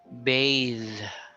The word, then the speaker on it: bathe: Smooth, smoother, soothe, soothe, soothing, bathe, bathing. So it's a bath without the e, but if there's an e, that's a verb. Bathe.